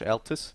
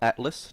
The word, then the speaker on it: Altus: with Josh Altus yes Josh Altus not Atlas don't mispronounce it and it does look